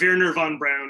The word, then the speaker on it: Wernher von Braun: The Americanized name is von Braun, and you will probably hear me slip into that pronunciation, but Wernher von Braun is the official version.